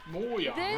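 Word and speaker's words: Mojang: Brand director Lydia Winters moyang I think that's how it's Swedish actually pronounced in Swedish yeah moang really summer never heard that way will be able to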